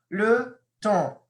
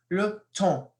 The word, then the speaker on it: le temps: Le temps. Notice the S isn't pronounced. It's le temps. You don't say le temps. Or you don't say le temps. It sounds kind of weird, but it's le temps.